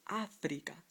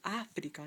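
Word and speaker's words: África: So, to let you know that it's Africa, not Africa, like you would naturally say it, you need an accent on the A to let you know it's Africa. How about another word?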